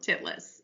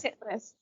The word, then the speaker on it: Titlis: pronounce the name of Yes, this mount to make yes, sure it was, in fact, Mount Titlis. And it it's Mount is. Titlis.